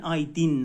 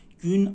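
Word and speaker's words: günaydın: آی بدون نقطه است ببین الان این رو من دوباره تلفظ می‌کنم گ که همون گ تلفظ میشه گون گون او ببین او نیستا این اوی د تا نقطه داره گون آیدن دن آیدین نیستی آره ببین اگر اون نقطه داشته باشه میشه گیدین گیدین نیست گوندن گوندن گوندن یعنی همون ا تلفظ میشه میشه صبح بخیر بخیر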